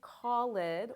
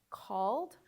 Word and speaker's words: called: And something really important is you're not going to add an extra syllable to the word. So instead of what you might think it looks like called or cleaned or offered,